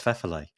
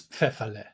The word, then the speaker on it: Pfefferle: your name correct so I'm going to say it like this Fe nearly perfect oh that'll do it's fale okay Fe perfect that's second time yeah